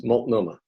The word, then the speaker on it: Multnomah: So how's it pronounced? Multnomah? Yes, Multnomah.